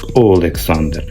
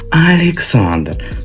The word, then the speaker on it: Олександр: зросійщині Тому в них в прізвищі пише Олександр і читається українською як Олександр пише Лобода читається українською як Лобода А не лабада і а не Александр так що всіті люди